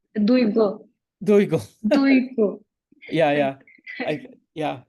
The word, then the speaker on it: Duygu: How do you pronounce your first name? It's Duygu.